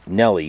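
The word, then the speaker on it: Nelle: It's spelled N-E-L-L-E on the map, so I'm going to call it Neelle Lake. As in, whoa, Nelly.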